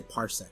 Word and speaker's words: parsec: What's parsect mean? That's not a word, right? Okay, parsec.